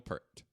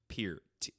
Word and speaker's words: Peart: Steve, New Jersey's Carton Brewery, Carton, like Carlton with no L, honors Neil Peart with lime-lighted Canadian lager and it's pronounced Peart. Pear-T.